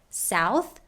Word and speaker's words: south: ah also note that we say south with an ow diphthong but with the word southern we pronounce it with a short u sound southern south southern for our children's